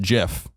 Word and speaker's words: GIF: And the creators go on and said it is pronounced GIF.